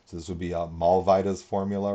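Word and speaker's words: Mollweide: this would be a mall vidas formula right here um not mall weeds um you americans out there that w would be pronounced like a v and like a vida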